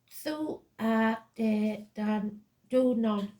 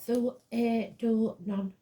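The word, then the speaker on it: Tuatha Dé Danann: as Tuatha De Danann, pronounced Thu A De Dan Du Non or Thu A Du Non, meaning tribes of the god.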